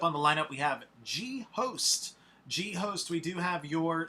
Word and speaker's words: G-Host: And next up on the lineup, we have G-Host. G-Host, we do have your song that you submitted. I think it's pronounced Ghost, but the way you wrote it says G-Host.